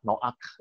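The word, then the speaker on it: נח: Yang menarik adalah kalau NH, Nuh itu dibacanya adalah Noak, itu adalah resting atau sejahtera, beristirahat, comfort gitu ya.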